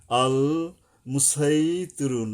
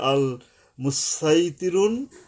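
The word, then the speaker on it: الْمُصَيْطِرُونَ: সূরাতুর আল মুসা মুসাইতিরুন আল মুসাইতিরুন এখানে এভাবে যদি পড়ি আল মুসাইতিরুন মানে সওয়াদ যদি উচ্চারণ করি শক্তভাবে সমস্যা নাই আবার যদি এরকম পড়ি আল মুসাইতিরুন মুসাইতিরুন দুইটাই চলবে এখানে মূল কথাটা সূরাতুরের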